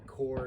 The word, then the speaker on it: Kore: Now, Core is spelled K-O-R-E.